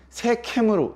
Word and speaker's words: 세겜: 근데 성경은 마게도냐 이렇게 써 있어요. 마게도냐. 상당히 경음과 격음을 순화시켜서 기록하는 그런 흔적들이 많이 보입니다. 그러나 이제 그것은 원문에 가까운 발음이 아니기 때문에 크게 여러분들에게 혼동을 주는 게 아니라면 마게도냐는 마케도냐로, 세겜은 세캠으로 제가 말을 하더라도 오해 없이 들어주시기를 부탁을 드립니다.